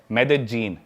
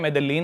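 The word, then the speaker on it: Medellín: उसकी एक सिटी है मेदजीन स्पेलिंग में उसमें डबल एल आता है मेदलीन होता है लेकिन कोलंबन स्पेनिश में ल को ज बोलते हैं तो मेदजीन वो शायद उसकी मेन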